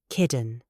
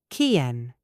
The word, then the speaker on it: kitten: However, do use the glottal stop for words like button, cotton, and kitten. Listen to the difference. American, budden, codden, kidden. They use the D sound. British formal, butt-ton, cotangent-ton, kitten. We release the T.